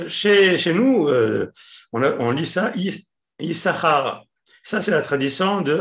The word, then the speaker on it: Issachar: Mais une des différences qui est connue, c'est au niveau de la prononciation du mot Issachar. Vous savez qu'aujourd'hui, le mot Issachar, enfin même avant, est toujours, c'est dans le Sefer Torah, il est écrit avec deux signes. Deux signes. Sin, Issachar.